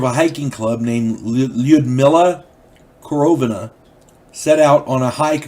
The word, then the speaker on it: Korovina: But Korovina Group, Korovina, K-O-R-O-V-I-N-A, Korovina Group. I'm going to say Korovina, because I'm pretty sure that's how it's pronounced.